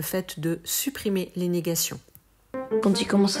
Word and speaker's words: quand il: On remarque que le D de « quand » se prononce presque comme un T. Quand il, et non pas quand il.